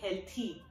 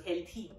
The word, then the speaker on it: healthy: So I hope you can hear me, healthy. It's not the, not the D from Deeksha. It's the th from thank you, so healthy.